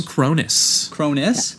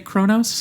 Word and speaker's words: Kronos: that Canadians say it Kronos yeah that's just how its spelt so III read it captain Chronos when I first read it but every time they pronounced it in the movie they say Cronus okay but either way